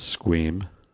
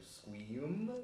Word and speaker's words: Squeam: How do you pronounce that? Sorry. It's Squeam. Oh, okay, because it looks like Squeam.